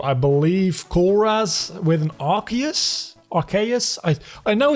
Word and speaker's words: Arceus: so I would say Arceus which also kind of coincides with the word arcane I would say that